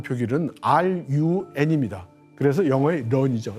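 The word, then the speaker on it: 润: 이거 하고는 아무 상관이 없고요이 룬이라는 말이 중국어의 발음 표기는 run입니다 그래서 영어의 런이죠 런 도망치는 걸 뜻하는 겁니다 그래서 앞에 차이나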